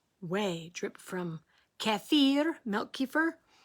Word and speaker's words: kefir: drip from kaffir milk kefir um so funny just thinking about how it rhymes with deer kefir rhymes with deer sorry